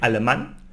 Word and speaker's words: alemán: And here we have an accent over the A when we say alemán, because we need to stress and emphasize this syllable.